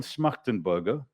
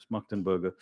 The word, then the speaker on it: Schmachtenberger: So Daniel Schmachtenberger, that's how you pronounce his name. He's yeah, Schmachtenberger.